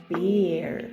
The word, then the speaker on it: beer: If you give a big smile, it's gonna sound like beer.